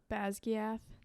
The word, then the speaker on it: Basgiath: Bagzagath? Basgiath.